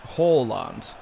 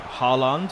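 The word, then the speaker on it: Haaland: now it's actually pronounced horland like hall when you look at that type of name you'd be like hollande or hooland it's a hall like uh an english hall which is interesting sancho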